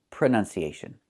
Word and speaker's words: pronunciation: The word is pronounced pronunciation. We see the letter U there between the ends, right? That's a short uh sound like cup and up. Prenun. Prenun. So the two first vowels are the same sound.